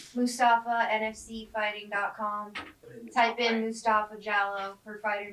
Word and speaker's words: Jallow: I knew it wasn't jelly, but I could not say it right either. So, Jallow. Mustapha Jallow.